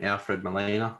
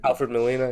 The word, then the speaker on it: Alfred Molina: sick i loved like um what's his name alfred molina is that say how you say his name alfred molina yep it was so cool seeing him again